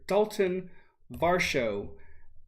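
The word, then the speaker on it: Daulton Varsho: for vote for doc i can't talk for dalton varsho there we go that's how you say his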